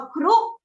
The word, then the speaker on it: ครุ: อ่าน ได้ สอง 8 แบบ แรก เรา จะ อ่าน ว่า ครุ แบบ ที่ สอง เรา จะ อ่าน ว่า คะ รุ รุ จะ หมาย ถึง